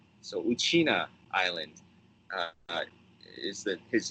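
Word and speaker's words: Uchinaa: Okinawan word uh in the okan language we pronounce it uchina so uchina Island uh is the is how we uh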